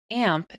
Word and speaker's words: AMP: AMP is spelled A-M-P and stands for Apache MySQL PHP.